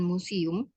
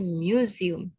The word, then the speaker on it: museum: bacanya itu bukan museum tapi museum karena u itu dibaca y Mu- apa ada y ada u-nya ya ada y-nya.